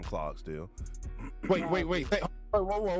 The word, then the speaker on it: Clarksdale: Clogsdale is how you say it if you're from Clarksdale.